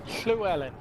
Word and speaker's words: Llewellyn: How do you pronounce it? It's Llewellyn.